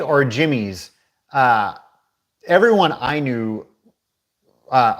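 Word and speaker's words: Jimmy'Z: uh saying you know we used to call it Jimmy Z because we didn't know better that it was Jimmy's um I've always heard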